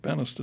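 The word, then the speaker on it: Banastre: about him and bister that's how you pronounce that banister tton uh in the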